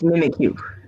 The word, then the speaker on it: Mimikyu: looks like a sneeze mimikyu like someone like someone's missing you but it's mimic you oh but it's a